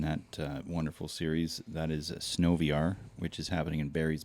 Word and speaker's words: SNOVR: That is SNOVR, which is happening in Barry's Bay. Not SNOVR? Or? No, it's not SNOVR. It's weird that you would say that. But no, it's SNOVR.